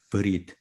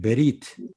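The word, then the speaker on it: בְּרִית: 아, 언약, 브리트. 발음은 베리트 이렇게도 할 수 있고 또 브리트 우리 이렇게 할 수 있다. 또 마찬가지 괜찮아요 다. 우리 엄밀하게 얘기하면 베리트가 맞다.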